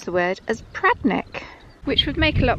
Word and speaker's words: Predannack: Locals pronounce the word as Predannack, which would make a lot more sense to me as a Cornish person. We do tend to lose that middle syllable.